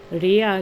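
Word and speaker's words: Rhea: So all these deities he said Gaia Rea and um Ria you pronounce her in English and Hera are actually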